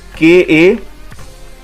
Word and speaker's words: calendar: So इसकी pronunciation जो है, it is written as calendar. It's KA-LUHN-DUH.